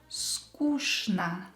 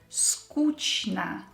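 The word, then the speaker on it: скучно: change it to o and it will become skushna adverb sometimes you will hear it mispronounced you will hear skuchna or skuchme as an adjective but it's wrong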